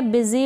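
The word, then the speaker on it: busy: इन spellings में क्या है, यहाँ पर ये जो यू है इसको छोटी ई के रूप में प्रोनाउंस किया जा रहा है, पढ़ा जा रहा है, बिजी में और बिजनेस में।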